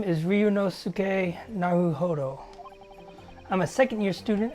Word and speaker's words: Ryunosuke: Okay, yeah, that's how you say it, Ryunosuke.